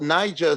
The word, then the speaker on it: Naija: So Niger spelled like Naija, right?